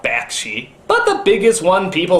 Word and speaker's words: Bakshi: never quite pronounced correctly like judge Hirsch instead of Judd Hirsch Ralf Bosch key instead of ralph bakshi but the biggest one